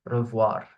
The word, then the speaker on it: revoir: But here the R is pronounced. Okay. Revoir.